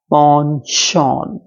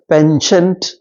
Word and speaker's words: penchant: Next है हमारे पास PENCHANT, पॉनशॉन। याद रखिएगा इसका करेक्ट प्रोनाउंसिएशन पेंशेंट नहीं है, इसका करेक्ट प्रोनाउंसिएशन है पॉनशॉन, पॉनशॉन, जिसका मतलब लाइकिंग, लाइकिंग है।